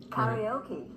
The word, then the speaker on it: karaoke: Karaoke. But in Japanese, you say karaoke. Karaoke.